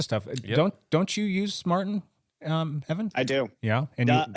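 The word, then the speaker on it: Maurten: yeahuh the company that makes the supplement is Martin so um that's spelled m a u r t n yeah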